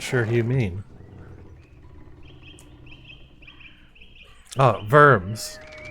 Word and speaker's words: Worms: Oh, Worms. If it's not got an umlaut, don't put one in, though W is usually pronounced V.